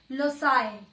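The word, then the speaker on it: loci: ठीक है, और जब हम इसका प्लूरल बना देंगे तब सी की साउंड स से आ जाएगी, लोसाई। क्या बन जाएगा ये? लोसाई। आप इसे क्या प्रोनाउंस करोगे? लोसाई।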